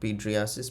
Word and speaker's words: pityriasis: इट इज नॉट एज इट is pronounced. इसको हम लोग पिट्रियासिस प्रोनाउंस करते हैं।